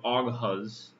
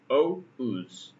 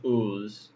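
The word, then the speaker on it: Oğuz: looks like ogres or oghaz which is ridiculous in turkish it is pronounced oz o uz the g is supposed to be silent or just ooze in that way too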